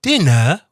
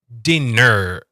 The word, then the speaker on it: dinner: Here, instead of saying dinner, we want dinner. Strong ER. Dinner.